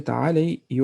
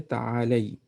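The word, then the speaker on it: تعالي: Here you will pronounce the ya. You will say ta'alay, because we have okay. So you will pronounce the ya. You will say ta'alay, but because this one is for female.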